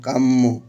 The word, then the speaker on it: কাম্য: এরপর জফলা থাকার কারণে মটা দুইবার উচ্চারণ হবে। প্রথমে কাম, মৌকার মো, কাম্য।